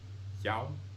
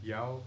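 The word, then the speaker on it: já: So, it's yao word for yes. Note that many Icelandic speakers, especially women, although men too, may pronounce the words for yes, yao, and no nay with an inhalation.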